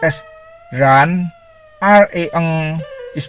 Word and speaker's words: ren: REN is pronounced as ran.